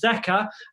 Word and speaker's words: Zika: We've known about it since the 1950s, where its correct pronunciation is Zika, and it came out of a Ugandan forest.